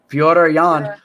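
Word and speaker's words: Petr Yan: Pyotr Jan.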